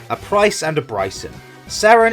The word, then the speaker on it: Sarin: Sarin is pronounced differently to Serena.